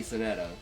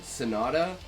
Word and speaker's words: sonata: Sonetta. I can't say that word though. Sonata. Sonata is I know it's like doesn't sound like it's spelled and I know it's like a musical term.